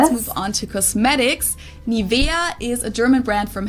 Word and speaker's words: Nivea: native speakers usually say Nivea Nivea in German we say nia nia so the emphasis is on the E the they didn't know